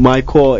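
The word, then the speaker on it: MyCorps: c o r PS it's not pronounced my Corps uh um my core is uh basically like the us peace core where we send um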